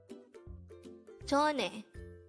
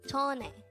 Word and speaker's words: 전에: 전에, 전에. This is pronounced as a two-syllable word. The first syllable is 전, second syllable is e.